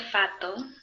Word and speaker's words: fatto: Che cosa avete fatto? Perfecto. ¿Qué cosa avete? Y ojo a la pronunciación. Fatto, doble T. Fatto. Eso, muy importante siempre todas las dobles.